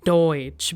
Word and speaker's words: Deutsch: So we have the word Deutsch because EU is pronounced as OE. So hence pronunciation is Deutsch.